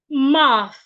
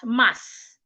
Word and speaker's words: math: Your tongue should be in between your teeth like this. My tongue is not behind my teeth. It is in between my teeth. Math.